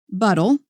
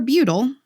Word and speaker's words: butyl: It is buttle or butyl, however you want to pronounce it, or wherever you are from.